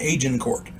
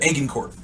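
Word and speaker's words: Agincourt: o u r t I've heard it pronounced aen court and aan Court uh I'm going with aen court excuse me something to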